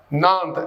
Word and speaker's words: Nantes: Nantes, Nantes, it pronounced like Nantes.